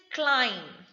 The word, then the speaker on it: climb: is not thumbs up it's thumbs up b is silent next is climb climbed the stairs i was climbing the stairs